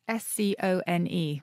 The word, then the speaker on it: scone: Okay, so how do you pronounce s-c-o-n-e?